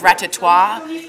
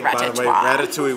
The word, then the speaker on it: Ratatouille: was telling Al that someone thought it was ratatwa instead of Ratatouille so it's a party there like it's actually pronounced Ratatouille was like the first movie that I was